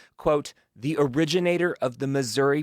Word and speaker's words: Missouri: board and declaring that the proper pronunciation of the name of this Imperial Commonwealth is Missouri and not Missi has been commented on by